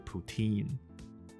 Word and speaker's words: poutine: 那我刚说的那个加拿大食物叫做 Poutine。